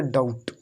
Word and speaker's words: doubt: अब देखो यहाँ पर भी टी से पहले क्या है, बी है। टी से पहले बी है तो इसको भी साइलेंट कर दो। इसमें भी देखो यहाँ पर है टी से पहले तो इसको साइलेंट। तो इसको पढ़ेंगे डाउट।